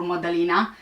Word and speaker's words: Madalina: for everyone to keep an eye out for modeling which is the proper way of pronouncing the name was last seen at home